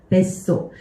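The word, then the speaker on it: 別荘: 뱃소. 이거 원래대로 읽게 되면 이렇게 읽어야 되죠. 베츠, 소우 이렇게 읽어야 되는데 쯔로 끝나는 애가 사랑, 결합을 하게 되면서 이렇게 바뀐 거죠.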